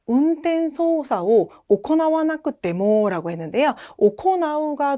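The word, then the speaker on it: 行う: 오코나우가 동사의 기본형이고요. 행하다에서 이거 이쿠라고 읽지 않아요.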